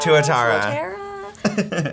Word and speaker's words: tuatara: you got from Turtles All the Way Down, Tatura. Yes! Is that how you say it? Tatura? Tatara? I don't know. It looks like You know what? Tuotara. Tuatara.